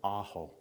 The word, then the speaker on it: Aho: It's saying ah, just like the first syllable in my name, Aho.